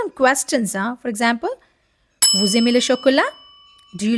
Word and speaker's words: vous aimez: Again, first word ending with silent letter, second word starting with vowel. So they both will connect and the sound will become z. So it is like vous aimez, you like.